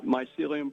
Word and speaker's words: Mycelium: Did I pronounce that correctly or not? Mycelium Press, that's correct.